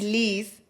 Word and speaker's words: Licet: Y Liz de mi nombre, porque todo el mundo me dice a mí Liz. Entonces, yo decía, simplemente lo voy a escribir diferente por mi nombre, pero se pronuncia tal cual.